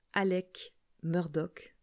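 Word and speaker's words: Alex Murdaugh: prononciation avant de démarrer j'ai entendu toutes les prononciations possibles pour le nom de notre accusé alexg lui-même le prononce Alec Murdock donc c'est comme ça que je vais le prononcer pendant cette série de vidéo le 8 juillet 2015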